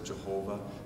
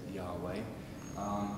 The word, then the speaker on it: Yahweh: Some of our non-Catholic Christian friends pronounce it as Jehovah. The more accurate, the more Hebrew accurate way is to say Yahweh.